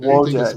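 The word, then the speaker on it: Wojtek: we're talking about Wojak, I think is the correct Wojak, yeah, that's it.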